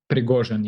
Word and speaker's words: Prigozhin: struggle between possibly this guy, how do you pronounce his name? Prigozhin, yeah.